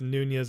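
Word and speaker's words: Nuñez: Someone tell William phonetically it's Nunez, not Nuns.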